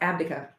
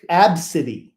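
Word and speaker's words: Abcde: their kids that it I think it's pronounced ABA well pronounced absidy absidy oh okay absidy okay okay yeah and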